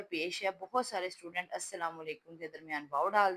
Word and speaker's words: السلام: تو یہ السلام بنتا ہے، لیکن جب ہم نے بولنا ہے تو تلفظ میں لام جو ہے سائلنٹ ہو جاتا ہے، تو یہ بنتا ہے السلام۔ تو جب بچے اس